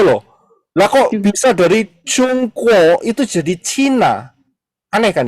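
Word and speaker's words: 中国: Cina Aneh kan ya I yang benar itu cungko negaranya ini adalah negara cungko bahasa Inggrisnya karena bahasa Inggrisnya gak bisa CH Jadi pakai Z zh zongo seperti itu ya Nah paham ya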